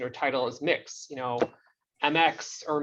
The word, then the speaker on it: Mx: like to have the an unseen you know pronunciation or title as mix you know mx or mir you know mir um i think it's it's